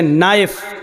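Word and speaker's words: knife: जैसे इंग्लिश में नाइफ किसको कहते हैं? चाकू को। नाइफ के माना चाकू, लेकिन के लिखा जाता है, बोला नहीं जाता, वो साइलेंट रहता है।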